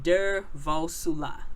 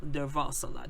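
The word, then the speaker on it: Durvasula: his name is dr romani devosa if i'm pronouncing his i know i'm butchering his name der vosoula der vassala that's d-u-r-v-a-s-u-l-a he's a professor of psychology at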